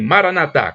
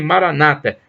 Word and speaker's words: maranatha: aramaica maranatha e é os católicos dizem maranata com a tônica na última cida os protestantes dizem maranata com a tônica na penúltima sílaba mais o significado é